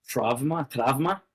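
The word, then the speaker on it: τραῦμα: Um And in fact, the word trauma is an ancient Greek word. We would pronounce it trauma trauma.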